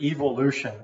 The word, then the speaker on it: evolution: at the study of evolution, and it's actually E, not Ev, like the British say evolution.